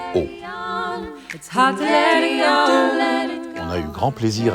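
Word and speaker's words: Å: Le dernier village des Lofoten, tout au sud, est celui qui porte le nom le plus court, une seule lettre, A, avec ce petit rond au-dessus qui fait qu'on le prononce O.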